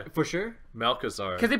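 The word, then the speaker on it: Malchezaar: Malchazar. I don't know the two pronunciations. I think it's a hard CH. I think it's Malchazar. For sure? Malchazar.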